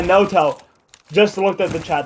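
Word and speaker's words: Noto: that no two is actually pronounced Moto of the Season no yeah no toe just looked at the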